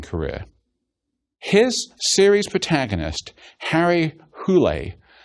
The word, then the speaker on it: Hole: beginning his racing career his series protagonist Harry who Leigh pronounced who lay but spelled hol II is a troubled and